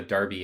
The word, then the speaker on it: Derby: for the sake of listeners so what a Darby is it's um it's actually spelled Derby but it's pronounced Derby it's this uh local rivalry between